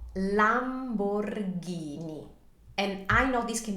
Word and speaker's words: Lamborghini: be quite a mouthful just remember that when in we have an H that turns the the G sound or the C Sound into a heart one so this is never Lamborghini is always Lamborghini and this was established